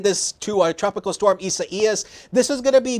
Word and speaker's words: Isaias: It is Tropical Storm Isaias. That is how you pronounce it.